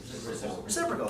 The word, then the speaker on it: reciprocal: by now there's a special name that rhymes with typical reciprocal so you can now